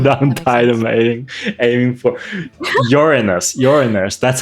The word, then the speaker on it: Uranus: How do we go to Uranus?